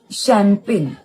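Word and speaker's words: champagne: जुडगे म्हणजे बरोबर लक्षात राहायचं दुसरा शब्द होता शम्पेन त्या शम्पेनच काही लक्षातच राही ना काय त्याचा उच्चार आहे आणि कसा तो स्पेलिंग शम्पेन म्हटल्यावर एसएच ने चालू होईल असंच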